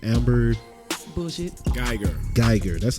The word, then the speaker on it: Guyger: Guyger. That's how you say it. Amber Guyger.